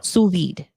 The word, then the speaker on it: sous vide: Now this person who is French says you have to pronounce the D. Yeah. Sous vide.